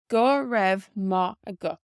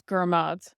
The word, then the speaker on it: go raibh maith agat: For example, in Connacht, where I lived in Galway out in Gaeltacht, they pronounced it as Gurmad. Gurmad. So it's very, very different to how it's written here.